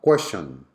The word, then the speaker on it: question: Next one, question. Question. Okay, where is the Schwa sound? Correct, on the second syllable.